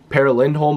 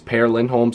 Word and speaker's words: Par Lindholm: Per Lindholm, or Par Lindholm, however you want to say his name. Apparently it's Per Lindholm, so I'm going to go with that, and I have been saying it that way.